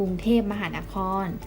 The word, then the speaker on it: กรุงเทพฯ: น้อย กรุงเทพฯ นั่น เอง เวลา เรา อ่าน นะ คะ เรา จะ อ่าน ว่า กรุงเทพฯ ไม่ ต้อง อ่าน ชื่อ เครื่อง หมาย นะ คะ แต่ อ่าน คำ ที่ ละ ไว้ ให้ เต็ม จะ ใช้ เขียน เพื่อ